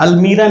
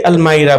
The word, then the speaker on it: almirah: I am, अलमीरा नहीं बोलते, अलमायरा बोलते हैं.